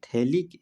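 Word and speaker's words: phthalic: में क्या बोलते हैं, थैलिक एसिड, जहाँ पर पीएच साइलेंट होता है।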